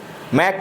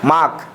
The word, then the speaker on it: make: यहाँ पर MAKE, मैक पढ़ेंगे इसे। क्या पढ़ेंगे? मैक, ना कि मार्क। यहाँ पर आ का उच्चारण कर देंगे यहाँ पर, तो हमारा गलत हो जाएगा। ये मैक रहेगा तो ये सही रहेगा।